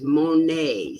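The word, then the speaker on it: Monié: is ki bb and my last name is monet spelled m-o-n-i-e and there's an accent over the e perfect beautiful i just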